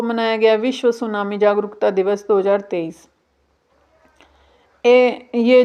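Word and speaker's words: tsunami: जापानी वर्ड है और यह टी से शुरुआत इसकी होती है टी सुनामी कोई कोई लोग इसको टी सुनामी भी बोलते हैं लेकिन इसमें टी साइलेंट रहता है और सुनामी इसको बोला जाता है और जो योग्य फ्रेमवर्क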